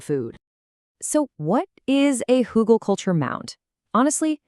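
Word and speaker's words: Hügelkultur: It's pronounced hugelkultur.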